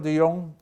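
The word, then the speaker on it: de Jongh: professor Petra DeYoung and please note the silent h no only professional relationship so professor Petra Dion who worked with me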